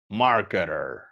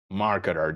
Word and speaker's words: marketer: Marketing, marketer. Right? A good way to get comfortable, de ponerse cómodo con la pronunciación of the letter T that becomes a T, an R, right?